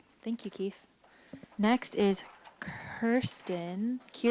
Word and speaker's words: Kirsten: Next is Kirsten, not Kristen. Just got done saying that I answered Kristen, and there I am. There I am, identified as Kristen on the board. So it is Kirsten, unlike how it's spelled here.